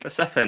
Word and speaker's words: Persephone: How do I pronounce it properly? Persephone, Persephone, mate. Greek. Persephone, there we go.